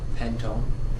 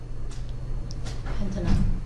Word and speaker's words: pentanone: So it's going to be called Pentone. not pentone, Pentanone. pentanone. That's right, because we drop off the letter E and we replace with the suffix of O-N-E.